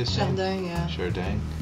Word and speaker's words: Chardin: It's Chardin. Is that how you say it? Chardin, yeah.